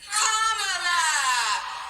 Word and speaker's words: Kamala: First, you say comma like a comma in a sentence. Then you say la like la. Put it together and it's one 2 3 comma.